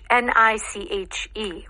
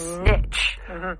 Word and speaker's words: niche: How about carve out a niche? N I C H E or niche. Right. This is another word in English that has two accepted pronunciations at least two niche or niche.